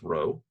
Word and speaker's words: rho: So this thing is pronounced row.